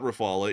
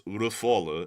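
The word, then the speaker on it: Rafale: to correct me that it is not Rafala, it is Rafal or Raphael and it is Rafala if you're saying it in the French way. If you're saying it in English, it's Rafal.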